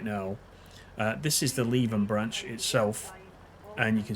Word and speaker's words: Leven: So Leven is firmly stuck in my mind, and it's spelt exactly the same way.